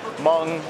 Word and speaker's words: Meng: Meng, pronounced Meng or Meng, depending on who you are and where you're from.